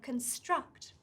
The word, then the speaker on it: construct: apostrophe here on screen it comes in between the two syllables con struct now the apostrophe always goes before the stressed syllable so if you see an apostrophe before something you need to stress the syllable after it got it okay wait